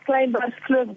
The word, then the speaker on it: Kleinbergskloof: This is Dutch.